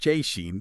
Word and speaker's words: Szczecin: Veskin, pronounced Cheen for anyone wondering.